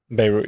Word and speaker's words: Beirut: How do I pronounce it again? Beirut? Beirut, yeah.